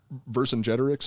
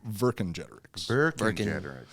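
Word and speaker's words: Vercingetorix: oh yeah yeah and that's also why i pronounce uh verse in generics is the way that i've always heard the pr the name pronounced that's how i have yeah but it is technically virgin generics okay which by the way uh this is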